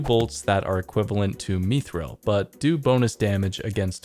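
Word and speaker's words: mithril: that are equivalent to methil but do bonus damage against electrical creatures and yes I pronounce it mithil that's how it's pronounced in Lord of the Rings so I'm just going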